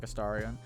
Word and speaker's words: Astarion: I usually pronounce it like Astarion.